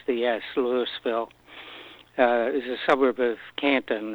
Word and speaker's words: Louisville: while it was a french settlement that called lewisville spelled like louisville only uh pronounce they pronounce the yes lewisville is a suburb of canton about eight miles